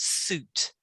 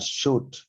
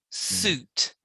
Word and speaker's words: suit: working from home does not suit everyone we pronounce it as suit working from home us what came from does not shoot suit not shoot suit suit that's it we pronounce like s-o-t suit